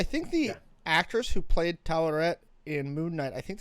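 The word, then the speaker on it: Taweret: How do you pronounce that name? Tawaret. Yeah. Tawaret.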